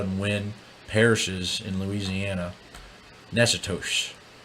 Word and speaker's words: Natchitoches: Natchitoches. This is what I understand that city to be pronounced as in Louisiana. We have Nacogdoches, Texas, and Natchitoches, Louisiana.